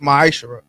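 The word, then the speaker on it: מעשר: Means 10th in the Hebrew and pronounced ma'ashara.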